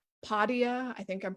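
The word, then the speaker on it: Podia: skillshare um there's a really good platform called padia i think i'm pronouncing that right p-o-d-i-a and gosh there have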